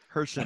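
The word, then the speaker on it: Herschend: Hershend, yeah, it's Hershend. It's not the Hershey. It's Hershend. It's just the name of the family that owns it. Darn it. Hershend.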